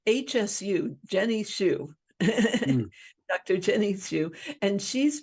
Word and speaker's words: Hsu: HSU, Jenny Shu.